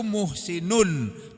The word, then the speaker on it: muhsin: Kalau satu muhsinun tulisannya muhsinun, bacanya muhsin.